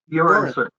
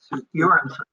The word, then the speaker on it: Göransson: Göransson. Göransson. The G is like a Y. Göransson.